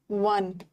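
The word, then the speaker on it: one: औ होता है और कभी-कभी ओ का प्रोनंसिएशन व होता है। व क ख ग में आता है। अ लगाना औ अ में आता है एन लगाना देखो यहां पे आउ ला रहा है इसका प्रोनंसिएशन आउ के सेंस में है बट यहां पे वन व आ रहा है वन वन में व आ रहा है ना डब्ल्यू आ रहा है कंसोनेंट है तो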